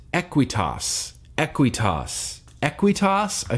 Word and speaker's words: Aqueous: from the cool kids club he says it's pronounced equity US equity US equity US I feel like Sherlock